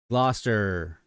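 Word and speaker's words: Gloucester: Gloster. Gloster. See, Chapatulus, I can pronounce Chapatulus all day long.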